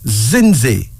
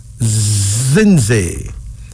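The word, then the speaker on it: Zindzi: Our first female name is Zinzi. Zinzi.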